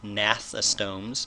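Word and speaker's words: gnathostomes: those would be the Nath systems that's hard to say because the G is silent nathless tones those are vertebrates that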